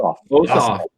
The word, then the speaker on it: Ossoff: Even now, if you look at the this is between Purdue and what's how you pronounce it? Ossoff.